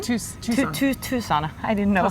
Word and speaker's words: Tucson: to because you come from the US from Tuscan to Tucson I didn't know how to pronounce it would be really nice if I